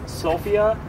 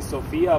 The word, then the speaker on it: Sofia: to pronounce it is Sofia, with the accent on the O. And I know that in some of your languages, it sounds maybe better or more logical to say Sofia, but if you really